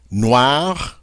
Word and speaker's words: noir: Noir, noir. Noir, noir. Now in this case, because we pronounce the final consonant on this word, the R, it's going to sound the same for both the masculine and the feminine.